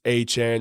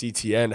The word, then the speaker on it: Etienne: And I think he's going a little too low in fantasy drafts, that being Travis Han, Travis ETN, however you want to pronounce it. I do believe it is actually Han though.